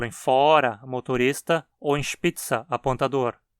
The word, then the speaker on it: Spitzer: Por exemplo, em fora, motorista, ou em spitza, apontador. Nesses casos, nunca reduzimos a para a. Sempre fora, Spitze.